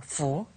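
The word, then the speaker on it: 福: Good luck, fortune, fu. Okay, fu. So fu has arrived.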